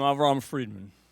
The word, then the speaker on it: Avraham Freedman: Hello, I'm Avraham Freedman. That's how you pronounce it.